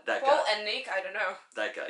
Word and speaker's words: Palahniuk: How do you pronounce his name? Palahniuk. That guy. Paul and Nick, I don't know.